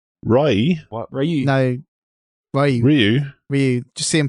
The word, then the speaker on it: Ryu: No, Ryu. Just see him It's punching the actually all pavement. one syllable in Japanese pronunciation.